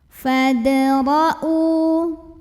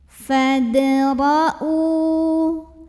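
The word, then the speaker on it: فَادْرَءُوا: Fadra'u. Ro dibunyikan secara tafkhim karena ro-nya berbaris fathah. Maka bacanya ditebalkan, pangkal lidah dinaikkan. Ro ya. Fadra'u.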